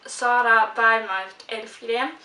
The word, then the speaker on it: Sara Elfgren: It's The Key, and it's by Mats Strandberg and Sara Elfgren. And I pronounced that in Swedish because it's Swedish authors, so I felt like I just had to pronounce them in Swedish.